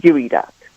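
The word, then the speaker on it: geoduck: OD UC k and it's pronounced gooey duck do GU e duck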